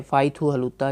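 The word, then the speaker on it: Pyithu Hluttaw: एल U double T ए डब्लू ठीक है फाई थू हलुता य इसकी पार्लियामेंट का नाम है किसकी बला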